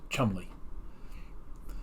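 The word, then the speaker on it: Cholmondeley: looked like charmander and in the actual show it was pronounced chumly so anytime jordan would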